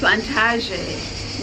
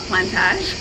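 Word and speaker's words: Plantaže: We are back from our visit at the Plantaze Winery, and we learned that it's actually pronounced Plantaze, not Plantage.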